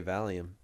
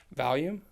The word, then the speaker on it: volume: Why do you say it like that? You say Valium. Volume? Valium is a drug they give you Yeah. when you're like hallucinating. It's volume. It's Valium. volume. Stop Valium. saying that. Volume.